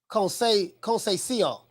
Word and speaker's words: Conceição: Mo City say pronounced like Conceição.